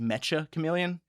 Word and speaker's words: Mecha Chameleon: I've been calling it Mecha Chameleon. Apparently it is pronounced Mecha Chameleon. So I guess because it's Japanese developer and it's supposed to be pronounced Mecha.